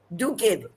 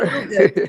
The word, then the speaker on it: Duguid: It was about February 16th or so that Minister DUGUID, DUGUID. Honorable, repeat please. DUGUID.